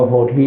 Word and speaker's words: โพธิ: พระ ครู สุวรรณโพช เหรอ เรา อ่าน ว่า โพธิ นะ ถ้า โพด นี่ มัน เหมือน ข้าว โพด จะ ถูก กิน ตลอด เวลา นะ อัน นี้ อยู่